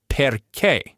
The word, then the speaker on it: perché: If a word breaks all the other rules and puts the stress on the very last syllable, the spelling will give you a giant clue, a written accent mark. So you literally never have to guess. If you see that little accent mark, you stress that syllable.